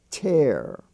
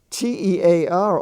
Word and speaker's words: tear: stands for the word tear like the tears in your eyes so you've got two t-e-a-r r's one is tear like to chair up something and the other is tear like tears in your eyes that's another instance